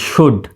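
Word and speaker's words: should: ও ইউ এল ডি সুড সুড বানানে এই এল এর উচ্চারণ হবে না সাইলেন্ট থাকবে এস এইচ ও ইউ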